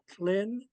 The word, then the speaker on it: Tlin: This next part, it sounds like it rhymes with tin, but there is a L between the T and the I, so it becomes Tlin, Tlin.